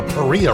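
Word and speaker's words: Paria: river is the Maria it rhymes with Maria the peria river I was talking about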